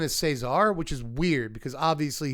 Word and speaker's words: Caesar: coming soon 5th member of the family is Cesar. Apparently you're supposed to pronounce his name that way. I called him Caesar the first time I said anything about this